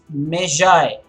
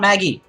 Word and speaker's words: Magi: pronunciation the gift of measure guys it is not Maggie for one thing Maggie spelt M double AGI this is measure and